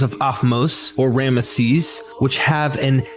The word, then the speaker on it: Ramesses: Looking at times like Ahmose, Tutmos, and Ramnos, which is related to the famous Ramesses, one sees the root term Mose.